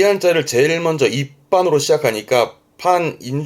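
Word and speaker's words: 一般: 발음은 입반.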